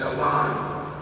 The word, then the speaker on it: Alan: a while back from Arthur's biography that it's pronounced Alan and so I try to say that every chance I again so the Machester Alan Arthur arrived in Washington to assume the presidency